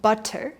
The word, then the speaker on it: butter: Butter. In natural speech, it will sound like butter. You try? Butter. Same thing. Notice how those two middle Ts become Ds.